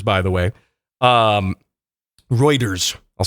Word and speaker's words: Reuters: outselling Audi's considerably according to a report from rooters by the way um Reuters I'll say it right I like to mispronounce it though but anyway so the challenge